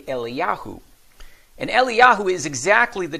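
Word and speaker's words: אליהו: Hebrews they don't say Elijah they don't say that that's an English word English name they say eliyahu and eliyahu is exactly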